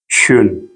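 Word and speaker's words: schön: जैसे एक लफ्ज़ हम बोलते हैं शुन, ठीक है? शुन इसका मतलब होता है खूबसूरत, ठीक है? खूबसूरत, शुन, इसको बोलेंगे हम शुन।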